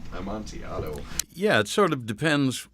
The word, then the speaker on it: Amontillado: the pronunciation on the montiella montiado yeah it sort of depends what you're trying to do if you're talking about um an italian play it would be amontillado if you're talking spanish